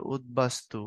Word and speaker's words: উদ্বাস্তু: তো যেটা ফলা, সেটার উচ্চারণ যেখানে যেখানে বহাল থাকে, যেমন ধরো উদ্বোধনে বহাল থাকে, তারপরে উদ্বাস্তু এখানে বহাল থাকে, তারপরে দিক বিদিকে এখানে বহাল থাকে, তাই না?